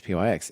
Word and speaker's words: pyx: numpai and and so just pyx for example, right? It could have many pronunciations. There's nothing implicit about how you say that one, but um Charlie Mar says pyx.